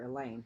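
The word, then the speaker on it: Elaine: even in the lunchroom Alain rhymes with pain while all those staring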